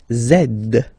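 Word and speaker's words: zède: X and the last one zed zed. Okay, so remember to pronounce this D at the end.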